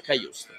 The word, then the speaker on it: Cajuste: Pronuncia Kajust.